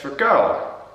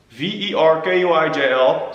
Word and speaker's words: Verkuijl: My last name is pronounced as Verkuijl. V-E-R-K-U-I-J-L. So the U-I is a U, and U-I-J is the same.